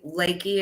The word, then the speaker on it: Lakey: And Lakey is how you pronounce the That is last name?